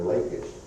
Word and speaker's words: Lachish: And down here, Lachish, 10 miles away from Jerusalem, the servants allied with the Habaru and attacked the king of Lachish, or Lachish. It's pronounced either way, I think.